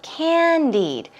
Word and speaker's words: candied: Here we go, candied. Stress goes on the first syllable and it means sugar-coated.